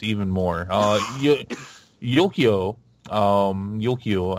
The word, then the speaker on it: Yukio: more yet yoky Oh Yukio I believe is how they pronounce this character is all so the